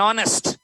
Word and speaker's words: honest: An honest, H is silent.